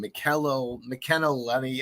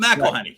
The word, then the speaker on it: McElhenney: I can't pronounce his last name. McKenna Lenny. I don't know. He's a Philadelphia guy. Okay. Oh, what you call it? It's Always Sunny in Philadelphia. Right. Rob McElhenney.